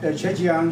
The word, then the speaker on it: Zhejiang: Yuheng received his bachelor's at Zhejiang University. I believe that's the correct pronunciation for those of you who don't know how to say it right.